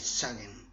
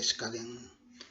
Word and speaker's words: Skagen: At the entrance to the village of Skagen (Danish pronunciation: ), a right turn onto a cycle path, also accessible by vehicle, leads to a large park (Tourist Parking).